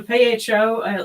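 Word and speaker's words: phở: It looks at the PHO. It's apparently the proper way to say it is pho.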